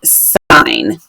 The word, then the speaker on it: sine: if you see this you're gonna say that sign and of course that's not how spine is often spelled but this is how sine is spelled for trig and this